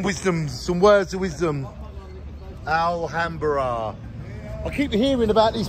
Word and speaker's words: Alhambra: How would you pronounce it? Alhambra.